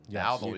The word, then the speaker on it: Dowdle: Dowdle, yeah, Yes.